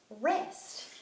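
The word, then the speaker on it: wrist: look at another one WR i s t hmm between W and arm which one is silent that's right it's the W so let's go ahead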